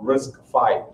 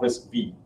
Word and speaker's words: RISC-V: that eventually was called risk five it is pronounced as five not risk B okay so very very